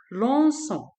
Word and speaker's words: lançons: Donc, je mets C dit pour prononcer so. Donc, nous lançons.